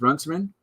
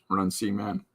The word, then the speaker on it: Runciman: How do I know it's pronounced Runciman? Huh? I'll show you. It's right there. Runcie Man.